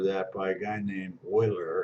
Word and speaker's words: Euler: I think there's a theorem for that by a guy named Euler. It's E-U-L-E-R, mispronounced Euler, but it's Euler.